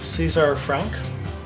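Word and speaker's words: César Franck: Yeah, I would recommend checking out other things he's done, Albert Schweitzer, and the music of Caesar Franck. That's how it's pronounced.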